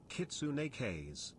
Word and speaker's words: kitsune: don't kick cheese everywhere kitsune there you go the one true way to pronounce it yeah that's true even